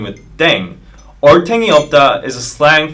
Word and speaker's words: ddaeng: playing with language now the pronunciation of deng is similar to thang which is the slang of thing in english last but not least